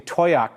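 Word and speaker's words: Towaoc: Southwestern Colorado particularly want to thank you for pronouncing toak correctly not terribly surprised the emailer says cuz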